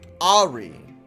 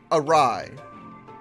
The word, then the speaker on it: Arai: Yeah, so I guess you weren't there, but when we finally made, Ari. Oh, Ari. Or Arai? Arai. I. That's how I pronounce it, as I.